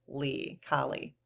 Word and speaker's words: Kali: Goddess Kali, Kali, but I have a pronunciation here, K-A-H, Kali.